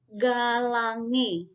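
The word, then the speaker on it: Galangae: dia dibaca sebagai contohnya Ini nama simplisia atau nama latin yaitu galamai itu ketika kita membacanya kita membacanya harus mengucapkan dengan kata galangi Galang Iya Nanda kemudian Cena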